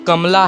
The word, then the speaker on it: Kamala: आज के इस वीडियो में हम बात करने जा रहे हैं कमला हैरिस। कमला हैरिस भी कहते हैं लोग, कमाला हैरिस भी कहते हैं, अलग अलग प्रोनाउंसिएशन हो रही हैं, लेकिन ये इंसान एक